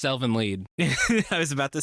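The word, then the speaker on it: Elfen Lied: to be a series covered in the podcast Elvin lied easy easy Elvin lied I would say School judgment yeah that's fair I don't care that it's pronounced Elvin lead I was about to say I don't respect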